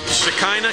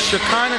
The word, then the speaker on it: Shekinah: bring you the volleyball game how do you pronounce that school now Shekinah Christian Shekinah Christian School they start about fifth sixth grade